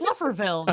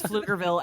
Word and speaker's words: Pflugerville: It's spelled fluffer, but it's Flufferville. fluger. It's Flufferville. No, it's Pflugerville.